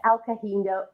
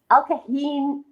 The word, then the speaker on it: Alcadinho: It's November 22nd, and it's Craft Your Grand Giving Story with Alcadinho. Alcadinho. Alcadinho. You know what? We just had a lovely conversation about it. The H is silent, and now the H is sticking out of my head like a sore thumb.